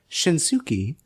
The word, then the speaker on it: Shinsuke: from Japan to NXT you need to have a u in your name that is not pronounced yeah right like the